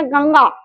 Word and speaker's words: गंगा: ठीक है, जैसे देखिए गंगा इस शब्द का जब मैं उच्चारण करूंगी, लेकिन सटीक रूप से अगर मुझे इसका उच्चारण करना होगा तो शब्द कहा जाएगा गंगा। ठीक है, एक प्रकार से नाक से आता है।